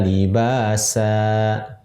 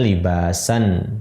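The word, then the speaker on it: لِبَاسًا: Wa ja'alnal laila libasa. Aslinya libasan gitu.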